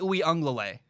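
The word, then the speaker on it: Uiagalelei: dj ui la anglaile dj ui unglalay got it right i know that's how you say it i nailed it oh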